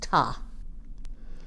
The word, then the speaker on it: Ptah: egypt ancient egypt egypt ptah but it's pronounced tah they say he is